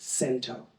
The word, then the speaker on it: cento: It's an Italian word. It's either chento. I think that's correct, but I've also heard it pronounced sento.